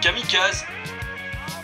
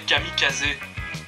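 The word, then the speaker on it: kamikaze: c'est japonais Mo et kamikaz kamikaz c'est du japonais sauf que normalement il faut prononcer kamikazé casé ça veut dire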